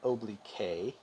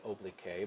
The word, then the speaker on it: oblique: but oblique is the property proper name oblique is spelled oblique when i was a student i was tempted to say oblique but it's pronounced oblique same formula you guys